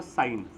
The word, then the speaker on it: sine: छह अब ध्यान से सुनना सबसे पहला sinθ इसको मैं प्रोनाउंस करूंगा साइन सीन नहीं बोलेगा कोई भी पाप चढ़ जाएगा साइन बोलना है सिन नहीं बोलना कोसाइन इसकी ये फुल